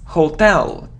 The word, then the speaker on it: hotel: even in songs but it isn't hotel its hotel so the stress is on the second syllable hotel it isn't him no it's